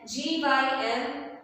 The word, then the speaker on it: gym: Here you can see that somewhere we have pronounced G as J, and in some spellings we have pronounced G as G, and we have pronounced J as J. So G and J both are pronounced as J, and sometimes G is pronounced as G.